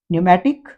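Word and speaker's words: pneumatic: है कबर्ड या रसबेरी और प से पहले यदि ये स्टार्टिंग में पी एन हो देखें तो पी एन से स्पेलिंग चालू हो रही हो तो हम यहां पर प को साइलेंट करेंगे न्यूमेटिक निमोनिया वैसे ही यदि पी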